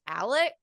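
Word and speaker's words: Alex: and then the dad's name is Alec like Alec but he spells it a-l-e-x that's what they call him Alec so okay yeah it's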